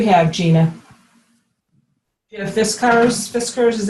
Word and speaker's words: Fiskars: kind do you have Gina if this curves Fiskars is how you pronounce that Fiskars yeah it's a great limb with an orange